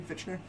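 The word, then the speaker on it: Fichtner: Is how you say his name, Fitchner.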